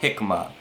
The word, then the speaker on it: jicama: And this is Jicama, spelled like Jicama but called Jicama.